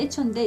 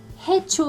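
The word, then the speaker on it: hecho: 근데 에초인데 이거를 해초 아니에요. 해초 아니고 해꼬도 아니고 에초. 스페인에서 이게 아체는 발음이 소리가 안 나거든요.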